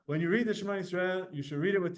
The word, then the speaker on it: Yisrael: Shema, but the word Yisrael, the sin has two dots, and that it's not Yisrael, it's Yisrael.